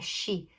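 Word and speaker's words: し: Aqui não tem a pronúncia de si. É shi. Sa, shi, su, se, su. S-H-I.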